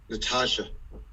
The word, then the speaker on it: Natasha: Natasha, and excuse me if I'm pronouncing that wrong.